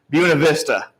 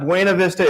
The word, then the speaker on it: Buena Vista: used to live in buena vista it's not buena vista it's buena vista he he lived there